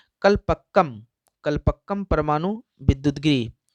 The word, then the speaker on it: कलपक्कम: हो रही है मैं, लेकिन फिर से इसका प्रोनाउंसिएशन कर देता हूँ। कलपक्कम कलपक्कम परमाणु विद्युत गिरी।